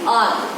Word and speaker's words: hour: We speak R. So H is silent.